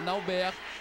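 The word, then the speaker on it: Nalbert: Então, desculpas à mãe dele, desculpas às pessoas que sabem que o nome dele corretamente pronunciado seria Nauber. Mas eu só, de mim, eu só consigo o Naubert mesmo.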